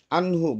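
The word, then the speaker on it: عنه: Kemudian anhu bacaan ijhar harus dibaca jelas nun matinya.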